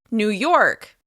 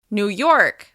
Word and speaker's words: New York: Here's another one of my favorite states, New York. New York. As you can hear, we're stressing the second word, York.